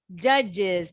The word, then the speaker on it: judges: Bentar, tadi Dictionaries kita and books will tell you that it's judges. Nah, judges. Nambahin is ya.